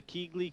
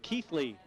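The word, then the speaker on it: Keighley: table now for the keegley q boy well i've just been told i've been mispronouncing chris melling's hometown keithley my apologies red bull's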